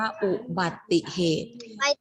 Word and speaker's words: อุบัติเหตุ: มาก เลย นะ คะ เสียง สระอุ ถ้า นัก เรียน อาจ ออก เสียง สระอุ ด้วย อ่าน ว่า อุบัติเหตุ อุ ซึ่ง ผิด คะ ซึ่ง ผิด ใช่ ไหม ลูก ผิด นะ คะ อ่าน ว่า อุบัติเหตุ เรา ไม่ ออก เสียง สระอุ ใน ฮะ เดี๋ยว ตอน นี้